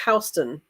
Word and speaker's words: Houston: Houston, Delaware is pronounced Houston.